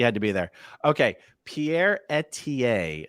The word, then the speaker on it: Pierre: I never knew how to say Pierre's last name.